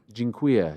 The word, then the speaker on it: Dziękuję: Dziękuję. Dziękuję. Yes, that's right. That's right. You know how I remember that? Borat used to say dziękuję, even though he was Kazakh. He used to say dziękuję.